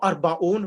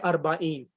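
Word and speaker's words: أربعين: And sometimes, normally Ishruna is, for example, when you're counting, we'll say Wahidun wa Ishruna, but normally Arba'in, it's not Arba'un, we pronounce it Arba'in and Ishreen.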